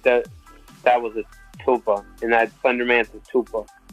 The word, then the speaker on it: tulpa: How do you pronounce it? Tulpa.